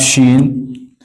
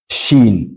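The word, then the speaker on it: شين: and then Shin shein also comes from the tongue the middle part of the tongue Shin gim and Y these three letters come from the middle of the tongue so with Shen your mouth has a little bit of pressure sh Shen that's air comes out with Shin then we have this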